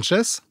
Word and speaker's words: Sanchez: Sanchez. Sanchez. Avec un S, tout simplement. à la fin, t'as vu? Porque no es espagnol.